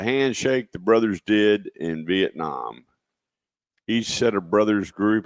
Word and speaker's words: Vietnam: So he said Vietnam pronounces if the A is not the word. So it would be Vietnam as in almost an O, right?